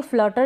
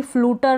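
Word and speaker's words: flutter: तरीके से इसको पढ़ेंगे फ्लटर इसको भी फ्लूटर ना पढ़े फ्लटर पढ़ेंगे क्या पढ़ेंगे टी ई आर है ना इसको सीधा टर पढ़ना है यहां पर ये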